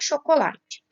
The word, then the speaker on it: chocolate: Começando por chocolate. Chocolate tem a sílaba tônica na penúltima sílaba.